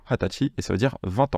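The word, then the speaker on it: 二十歳: pour 20 ans c'est hatachi voilà hatachi ça s'écrit vous voyez un N sa mais ça se prononce généralement hatachi et ça veut dire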